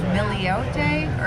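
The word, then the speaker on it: Miliotes: so it's owned by i always forget how to say his name it's george i believe miliote or something like that he's a master sommelier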